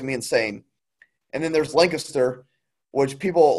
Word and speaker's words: Lancaster: And then there's Lancaster, which people like to call because the E's and they're silent, and they like to call it Lancaster, and it drives me insane. It's Lancaster, not Lancaster.